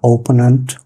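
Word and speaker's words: opponent: ওপোনেন্ট, যেটাকে আমরা অপোনেন্ট বলি, উচ্চারণটা ওপোনেন্ট।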